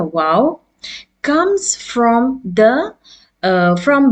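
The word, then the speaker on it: واو: lips by opening them as in English you say wow w o w as you say wow in English it's the same pronunciation for the Arabic letter wow as you can see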